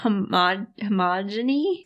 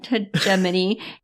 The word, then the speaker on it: Hegemony: It was the word you had the most trouble pronouncing last time. And you expect that I would remember it now. Homogeny? Hegemony.